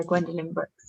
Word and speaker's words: Gwendolyn Brooks: And it's Gwendolyn Brooks, is it? Have I got that pronounced right? Yeah, Gwendolyn Brooks, yeah.